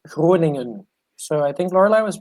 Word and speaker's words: Groningen: Actually, it was a really good pronunciation. It's Groningen. So I think Lorelai was pretty close. Groningen.